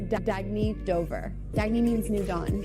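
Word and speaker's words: Dagne Dover: good you can live life intentionally oh it's pronounced dagy do dagy means new dawn it's a new dawn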